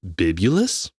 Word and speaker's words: Bibulus: um Julius Caesar's co-consel Bib Bibulus, I think is how you say it.